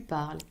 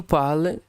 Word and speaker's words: parles: But yeah, tu parles, there's no S.